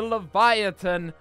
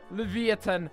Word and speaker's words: Livyatan: will be released and those are the Leviathan that is not correct levia 10 there we go I always thought it was Leviathan for some reason and